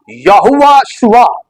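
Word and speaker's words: יהושע: अगर मैं उसको उसके सही मफहूम में प्रोनाउंस करूं तो यो होगा यहोवा शुआ। यहोवा शुआ, यह से मुराद यहोवा और शुआ से मुराद नजात।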